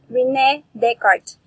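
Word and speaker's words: René Descartes: descartes we need card why is it pronounced at the card instead of the scartest so that is a french name so that is why that is called rene descartes he invented the cartesian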